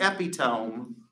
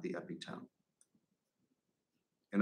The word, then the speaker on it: epitome: dictionary well it seems to me that the epitome of your case is what huh the epitome e-p-i-t-o-m-e you spelled it for me the epitome of your anime okay that word is pronounced epitome not the epitome in Oklahoma we have finances that's Oklahoman for fiance